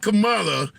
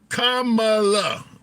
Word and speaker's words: Kamala: Okay, so not Kamala, Kamala. All right. Give me some time. I say it right sometime.